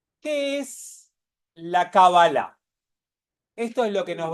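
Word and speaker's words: קבלה: son esdrújulas las palabras en hebreo en general se suele acentuar la última sílaba y en hebreo se dice cabala que ahora vamos a ver de dónde viene y todo demás que es fácil en castellano se le dice cábala y en inglés se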